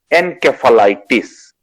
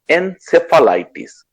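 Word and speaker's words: encephalitis: এনকেফালাইটিস অর এনসেফালাইটিস দুরকম ভাবে এটাকে উচ্চারণ করা হয় যখন ব্রেনে কোনো ইনফ্লামেশন হয়।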